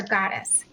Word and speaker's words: Gattas: Is it Gattas or Goddess? It's Gattas, but either way, I'm used to various that sounds like goddess too.